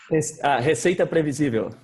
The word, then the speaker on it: Receita Previsível: Can you pronounce it for me? Receita Previsível.